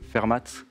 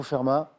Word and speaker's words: Fermat: Donc on prononce le T, je ne savais pas. Fermat, plutôt? Je le prononce, mais je ne sais pas s'il se prononce. Bon, on me dit que c'est plutôt Fermat.